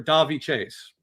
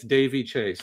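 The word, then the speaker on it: Daveigh Chase: A lot of research because I was calling her Davi Chase and I read it's Davey Chase. Everyone said it's Davey. The pronunciation is Davey. But somebody said it's Det, not Davey.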